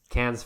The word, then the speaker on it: Cannes: He's got The Lighthouse, yeah, which is getting premiered at Cannes this year. We do this every time, but I did actually hear it pronounced, and it was Cannes Film Festival.